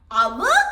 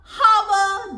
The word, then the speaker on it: hour: hour කියද්දිත් අපි h අකුර ශබ්ද කරන්නේ නැහැ. අපි කියන්නේ නැහැ honor, hour. That is wrong. That is wrong. So here h is silent.